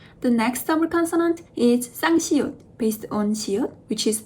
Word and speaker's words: 쌍시옷: When you pronounce 쌍시옷, you can actually feel your throat gets closed. s.